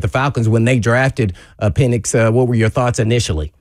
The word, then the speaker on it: Penix: Is that how you pronounce it? Penix. Yeah, Penix.